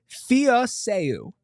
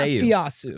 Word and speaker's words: Fiaseu: Zyrus, and I will say this right now, Fiaseu. It's not Fiasu. Okay, Fiaseu.